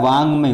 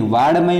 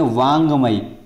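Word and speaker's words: वाङ्मय: तो वाक प्लस मई, ये देखो ये लिख दिया वांगमय, उच्चारण क्या हो रहा है, वांगमय, वाड़मय नहीं पढ़ेंगे, इसको बोलेंगे वांगमय।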